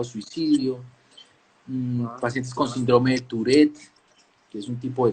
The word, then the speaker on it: Tourette: Eh, el que tiene, ¿cómo se dice? Taurek, Tourette, Tarek, síndrome de Tarek. Tourette.